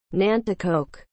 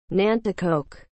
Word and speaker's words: Nanticoke: what is the meaning of the word nantakoke as a noun a member of the algonquian